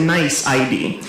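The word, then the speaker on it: NYC.ID: It's a mouthful, so we pronounce it nice ID, right?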